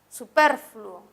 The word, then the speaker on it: superfluo: tenemos la palabra super superfluo que es grave porque tiene el acento en ver ahora pasaremos a describir